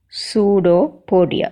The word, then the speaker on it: pseudopodia: pseudopodia how it pronounced pseudo podia spelling is p s e u d o p o d i a but this p is silent and we pronounced as